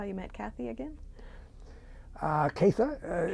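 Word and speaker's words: Catha: Katha is the way she pronounced her name.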